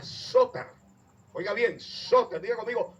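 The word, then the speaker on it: σωτήρ: Fíjense, la palabra salvación es un término griego que se pronuncia soter.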